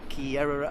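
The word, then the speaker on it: Kerrera: straight ahead to Kier I pronounced that wrong in the previous video I got to off for it so I think that's right okay so that's key era over there over this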